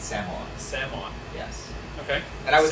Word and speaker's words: Samoa: is a unorganized us it's not pronounced samoa that would be incorrect it's samoa yes okay and i